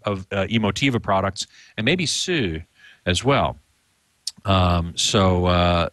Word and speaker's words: Hsu: a company called they they normally pronounce it Sue it's Hsu it's a Chinese guy